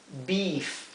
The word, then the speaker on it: beef: Del mismo modo que la doble E en inglés también se pronuncia así. Se pronuncia I. O sea, esto es meat. Acá ven el ejemplo de una doble E que se pronuncia igual que la EA.